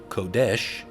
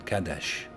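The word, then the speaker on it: קדש: We would say in modern Hebrew, Kodesh, but in ancient Hebrew, I believe it was the default A that was there instead of an O sound, so it would have been Kadesh.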